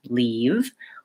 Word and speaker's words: leave: this eval green tea but you might not have the vowel that's in live or pink pig and so your brain hears live and leave as the vowel that you have in your native language so that's just one